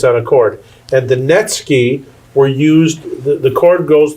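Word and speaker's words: netsuke: They're called Netski. Okay, that's spelled N E T S U K E. The U is silent. So Netski.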